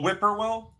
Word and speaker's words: Whippoorwill: Oh, Whippoorwill. Sure. Yeah. There you go. Okay. Whippoorwill. Now I know how to say it. Yeah. Yeah. No, it's the bird. The bird. It's the bird whippoorwill. Yeah.